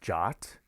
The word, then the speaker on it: JWT: is based on json it's actually pronounced jot and it's an ietf